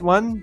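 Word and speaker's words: を: Whereas the right one, the o with the wo, it's written wo, but it's pronounced o.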